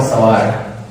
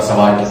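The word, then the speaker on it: Savart: observations लिखे, और फिर बायो और सवार, जो बायोट और सवाट बोलते हैं, तो टी दोनों में साइलेंट है, तो उन्होंने मैग्नेटिक फील्ड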